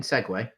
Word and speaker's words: segue: Sieg? Do you mean Segway? It's spelt Sieg. A Segway is a scooter.